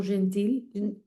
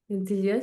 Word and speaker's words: gentil: Gentil comme the last letter typically silent.